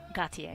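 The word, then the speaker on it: Gotye: How do you pronounce his name? Gautier.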